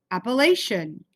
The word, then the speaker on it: Appalachian: So if I didn't know how to pronounce that, it says a, lay, she, un. And then just like we chop out our words and slide them all together, Appalachian, Appalachian.